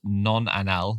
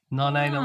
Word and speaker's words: nonanal: of them is called I think it's pronounced nonanal nonanal but it's SP non anal and non anal smells